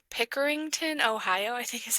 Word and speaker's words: Pickerington: Brian grew up in Pinkerington Pickerington, Ohio, I think is how you say it, a suburb outside of Columbus.